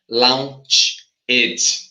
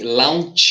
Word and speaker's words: launched: Ferb's how other infinitives we will not pronounce eg as an extra syllable but it's gonna sound